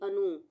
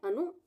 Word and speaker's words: अनुमोदन: हम पहले पढ़ेंगे अनु, इतना छोटे ऊ की मात्रा है तो अनु बोलेंगे, ना कि अनु। इसको हम बोलेंगे अनु। उसके बाद हम पढ़ेंगे मोदन। अनुमोदन, अनुमोदन।